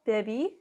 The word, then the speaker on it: bebí: So it's going to be yo bebí with a accent on the I.